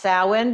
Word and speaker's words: Samhain: winter for those who are not familiar with sin yes it spell Sam ha but pronounced sin because it's an Irish gelic word this is